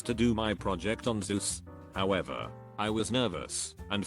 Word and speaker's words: Zeus: finished the presentation a kid asked you it's pronounced zeus right once in middle school i was